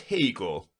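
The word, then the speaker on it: Haigha: happy his name is Hegel he pronounced it to rhyme with mayor I love my love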